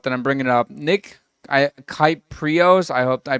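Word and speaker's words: Kypreos: So the tweet that I'm talking about that I'm bringing up, Nick Kyprios, I hope I pronounced. Kiprios.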